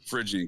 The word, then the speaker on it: Phrygian: Yeah, and and the Statue of Liberty used to be depicted with that same uh How do you pronounce the Phrygian Phrygian cap? yeah. Phrygian cap, there we go.